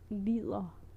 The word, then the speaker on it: lider: However, if you're going to say to suffer, you would definitely pronounce the D and E. So it would be if I'd say I'm suffering, I would say jeg lider.